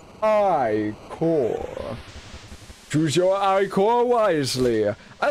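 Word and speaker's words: ichor: I can fill it with magical iore that's pronounced iore choose your eyore wisely I love how it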